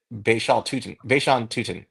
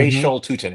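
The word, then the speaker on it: Bhayshul Tuten: Bayshawn Tutin, or Hmm. Bayshol Tutin is how you pronounce it, the kid from Virginia Tech who had really good film this year.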